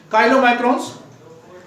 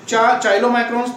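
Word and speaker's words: chylomicrons: CH से का बनता है काइलोमाइक्रोन्स। अब चाइलोमाइक्रोन्स तो थोड़ा सा गलत प्रोनाउंसिएशन हो जाएगा।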